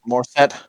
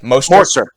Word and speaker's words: Mostert: How do you say Mostert. it? Morstead. Well, Mostert. Mostert. God, I'm terrible at names.